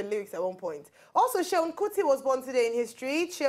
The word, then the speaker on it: Seun: It's Seun Kuti, it's not Suen.